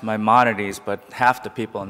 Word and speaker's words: Maimonides: It's pronounced Maimonides, but half the people in the hospital can't pronounce it either, so you can just call it apologize.